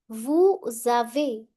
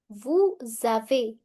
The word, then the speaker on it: vous avez: Vous avez, you have. Formal or plural. Vous avez. Again S will overlap A. Vous avez.